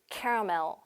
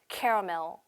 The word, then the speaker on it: caramel: 그 다음에 세 번째 이것도 caramel. caramel. 한 번 더. caramel. 어렵죠? 자, 처음부터 다시 할게요. vanilla, hazelnut, caramel. 이렇게 발음을 하셔야 되고 알아들을 수도 있어야 됩니다.